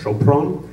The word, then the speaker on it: Sopron: So I and I and I thought uh I didn't know how to say it, but it's Chopron.